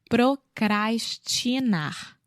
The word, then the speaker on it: procrastinar: Procrastinar. Procrastinar. Isso. Procrastinar.